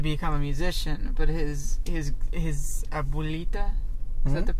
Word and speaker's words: abuelita: And Miguel wants to become a musician, but his abuelita, is that the correct?